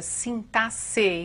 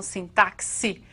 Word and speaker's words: sintaxe: sintaxe e assim mesmo que se pronuncia sintas e não sintáxi como alguns querem né então a sintaxe